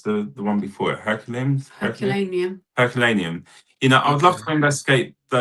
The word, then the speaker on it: Herculaneum: And you know, and is it how do you pronounce the one before it? Herculaneum.